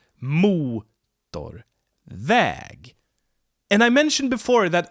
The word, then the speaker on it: motorväg: And if it's a compound, it has 2 stresses. Väg. Road. 1 syllable, 1 stress. Väg. Motor. 2 syllables. 1 main stress in the beginning and a secondary stress. And then we have the compound. Motorväg. Motorväg. So we have 2 stresses here.